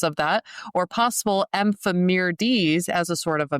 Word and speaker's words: ephemerides: And your pronunciation is correct. Ephemeris is what these things are, and ephemerides is what a lot of them are.